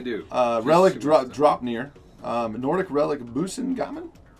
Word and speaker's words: Brisingamen: Nordic Relic Busingamen? Brisingamen. Yeah. Do you really know how to say it? Actually, Brisingamen.